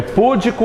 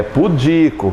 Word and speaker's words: pudico: É púdico ou pudico? É pudico. Vitor, que diabo é pudico?